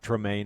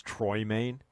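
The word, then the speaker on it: Troymaine: It's not Tremaine, it's Troy Maine.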